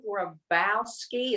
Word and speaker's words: Grabowski: But that's his Dr. Ron Grabowski is how you say it.